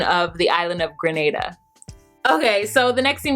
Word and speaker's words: Grenada: Shout out to those of you who corrected my pronunciation of the island of Grenada.